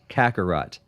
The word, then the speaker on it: Kakarot: z so fill me in how do you pronounce this kakarot kakarot i didn't get that far off yeah kangaroo